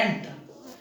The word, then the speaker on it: ant: Generally कई बार ANT को भी हम आंट बोल देते हैं, थोड़ा सा प्रोनाउंसिएशन का फर्क ध्यान रखो।